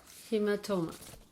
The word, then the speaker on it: hematoma: see it there hematoma they put the inverted comment that means the stress is on the next one hematoma hematoma written it